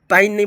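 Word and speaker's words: pain: की जाने वाली आवाज़] जब किसी वर्ड में ए आई आई और एल के बाद एन एल आई तो ए आई ए आई को ए से पढ़ते हैं। जैसे कि पी ए आई एनो प नहीं बल्कि इसको बोलेंगे पेन [गला साफ़ करने की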